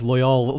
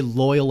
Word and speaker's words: Loial: i grew up calling him loyal or like loyal with the emphasis on the second one the entire time i think i was wrong the whole time because they say loyal in the show and i looked back in